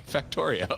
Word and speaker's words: Factorio: Factorio, I believe, is the correct way to say it.